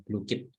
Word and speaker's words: Blooket: Di sini ada cara bacanya Bapak Ibu, Blue-Kit gitu.